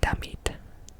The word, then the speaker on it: damit: And this one is spelled like a cuss word in English, but I'm going to pronounce it a different way so it doesn't sound bad. I'm gonna say damit.